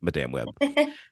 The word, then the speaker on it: Madame Web: web which for the record is the correct pronunciation that I will be saying Madame web Nicole worth same question Marvel movies fan not